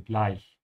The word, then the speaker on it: gleich: Also, make sure to keep your mouth open when you say the ich here, gleich. Check out my short videos on my channel to see how to pronounce it properly, gleich, yeah?